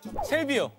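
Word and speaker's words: 샐비어: 셀비어. 정답입니다. 아~ 예. 정답입니다. 아~ 예. 축하합니다. 자, 아, 그 셀비어. 정확한 한국어식 발음은 셀비어입니다.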